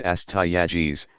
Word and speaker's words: Astyages: Their last two kings were Cyaxares and Astyages, pronounced Cyaxares, and Astyages, who are mentioned in the Babylonian chronicles.